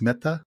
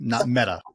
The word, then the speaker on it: Mehta: So I'm trying to be a little bit softer with the "t," right? It's Mehta, not Meta.